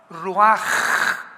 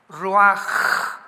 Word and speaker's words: ruach: que significa espíritu y se pronuncia la ch en el hebreo como j. Ruaj, roaj.